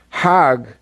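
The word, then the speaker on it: حج: around the circles now Hajj is a pilgrim to Mecca hag is the Egyptian pronunciation haug in Hebrew means a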